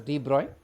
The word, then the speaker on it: de Broglie: It is spelled as Dbr but it's pronounced as Droy and the consequent wave that is associated is called Droy waves.